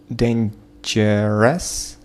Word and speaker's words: dangerous: Dangerous. Dangerous. Dangerous. Dangerous. So, dangerous, это неправильно, dangerous, then dangerous, dangerous, dangerous, первый слог под ударением, dangerous, dangerous, dangerous, dangerous.